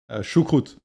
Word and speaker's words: Choucroute: How do you pronounce it again? Choucroute Choucroute?